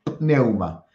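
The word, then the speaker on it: πνεῦμα: Pneuma. Pneuma, con P. Neuma.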